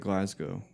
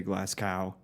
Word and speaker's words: Glasgow: And I like that you said you pronounced it correctly. You said Glasgow. Yeah. And you didn't pronounce it like some Americans do when they say Glascow.